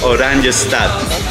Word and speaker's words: Oranjestad: The capital city is called Oranjestad.